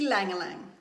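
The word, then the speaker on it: ylang-ylang: okay okay yelling Lang alright and the proper pronunciation is e ylang ylang ylang ylang ylang okay so ii Langille eggs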